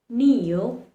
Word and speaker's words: kneel: K likes to remain silent when it has N following it. For example, in words like knowledge, knee, kneel, you see there's an N just after the letter K.